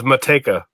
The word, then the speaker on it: Matej: your last name I don't butcher it it's motika take out okay I've been pronouncing you with like a I don't know